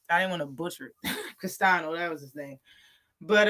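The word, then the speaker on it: Castaño: to come in scrap and that's the problem castano that's how you say his name that's his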